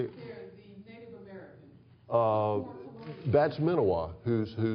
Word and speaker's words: Menawa: That's Menawa, who's How do you spell that? MENAWA. Up at up at Horseshoe Bend, I think they pronounce it Menawa.